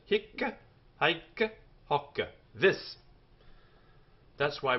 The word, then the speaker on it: hic: singer neutral he H notice the Double C on the end even though one C only is written this is how the Roman garans tell us we pronounce it hick hi HW this that's